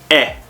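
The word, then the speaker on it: え: Next, we have the E, which is pronounced eh. Eh. Like an egg. Okay? Egg. Eh.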